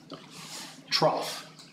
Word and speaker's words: trough: Trough. I am not responsible for the English spelling of this word. Because as far as I'm concerned, that's pronounced true. Take away the T, it says rough.